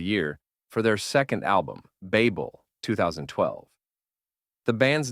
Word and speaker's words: Babel: By the way, you may be wondering why I am pronouncing Babel with a long a.